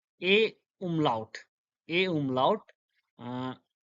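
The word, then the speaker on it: Ä: Uh, the first one, A, A umlaut, A umlaut, uh, A. It sounds like the E in bed, B-E-D, bed, bed.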